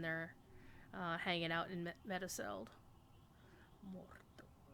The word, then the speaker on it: Mordor: Mordor. Gotta roll your R and really get in there.